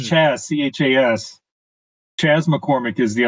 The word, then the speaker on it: Chas: I always get his name wrong. It's Chas, Chas.